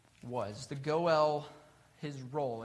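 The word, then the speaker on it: go'el: bit about what the go l was the go l his role it's it's spelled in english g-o and then a little accent mark and l but pronounced go l like noel the kinsman redeemer the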